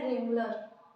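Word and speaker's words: Wrangler: दूसरा है रेंगुलर। ठीक है, W इसमें साइलेंट है, हिंदी में अगर बोले तो ये होगा रेंगुलर।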